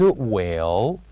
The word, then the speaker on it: whale: whale whale and the word whale has one silent letter repeat after me this word so you can know what that silent letter is is whale whale so what is the sound we didn't pronounce in this word well of course the letter is that we didn't pronounce and we kept it silent it is H whale and then the